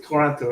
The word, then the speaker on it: Toronto: Alex is from Vancouver, and Loki is Toronto, right? You're Toronto? Yes. It's so funny when Americans say Toronto because they say it with a T.